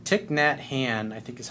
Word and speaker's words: Thich Nhat Hanh: It's like Thich Nhat Hanh, I think is how you say it.